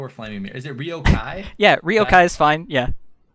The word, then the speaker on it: riokaii: name because people were flaming me is it ryokai yeah ryokai is fine yeah that's fine i get rio kali a lot and i'm i'm okay with that